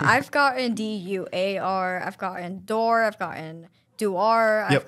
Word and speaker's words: Daur: And I think it's like, it sounds the way it's spelled, but I think people just see it and go, I'm good.